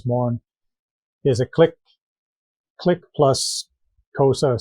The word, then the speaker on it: Xhosa: They're an offshoot of the Zulus, and a lot of their language is the Xhosa language, and even Xhosa itself, which is spelled Xhosa, it's a click sound, like sa.